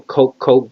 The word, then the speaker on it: Koch: But anyway, the Koch brothers or the Koch brothers, however they pronounce their name. I just call them Koch because that we had a mayor called Edward Koch, and that's how the spelling is the same.